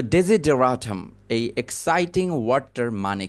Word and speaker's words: desideratum: Daisy বলার পরেও এখানে কিন্তু SI আছে, DESI, ডেজি।